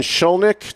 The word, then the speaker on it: Shkolnik: He is from Napoli and Shkolnik.